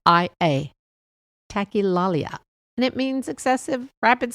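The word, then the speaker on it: tachylalia: It is tech tackalia. Now, I did look that up and I did spell it correctly. T A C H Y L A L I A tilalia and it means excessive rapid speech.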